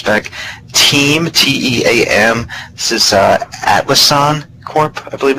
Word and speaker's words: Atlassian: This is Atlassian Corp, I believe it's pronounced.